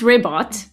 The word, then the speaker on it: Ribbot: It It's pronounced Ribot cuz he actually began as the community bot